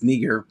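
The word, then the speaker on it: Niger: Simeon who was called nigar uh and Lucius of sirene now so he's saying this is this this neger that's how it's pronounced in the Greek this is the same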